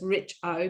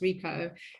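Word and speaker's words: Richo: out david rico r-i-c-h-o so it's rich oh but it's pronounced rico and he's not that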